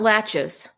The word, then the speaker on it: laches: What about latches?